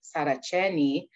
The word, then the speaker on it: Saraceni: And when people started to know my name and pronouncing it in an Italian way, Saraceni, I, for the first time, thought, how do they know my uncle and my cousin?